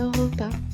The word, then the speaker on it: repas: Un excellent repas et ils invitaient, on ne prononce pas le S de repas.